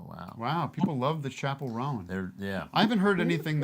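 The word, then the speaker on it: Chappell Roan: Well, I had a fun little riff where I was saying Chappelle Roan, like Chappelle Show. Chappelle Roan, but then somebody pointed out it's not pronounced that way.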